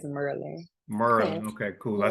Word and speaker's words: Maryland: Let me get it right because y'all be trying to say it correctly, and that's not how you say it. It's Merlin.